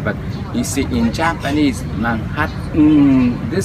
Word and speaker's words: Manhattan: You know, most Japanese will pronounce this Manhattan. Maybe like Cambodians, huh? Same thing. Before maybe you would have read it Manhattan, something like that.